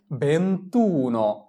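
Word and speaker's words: ventuno: তাহলে দুইটা ভোকালেও যদি পাশাপাশি পড়ে যায় তাহলে আমাদের প্রথম ভোকালেকে বাদ দিয়ে পড়তে হবে। তাহলে আমাদের উচ্চারণ কি আসে? ভেন্তুন বেন্তুন মানে হচ্ছে 21 এরপরে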